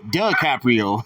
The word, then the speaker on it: DiCaprio: It's duh, not D. DiCaprio. DiCaprio.